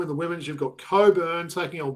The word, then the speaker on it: Cockburn: So in the women's you've got Coburn taking on Warrick. So it's not Cockburn taking on Warwick. It's definitely Coburn taking on Warrick.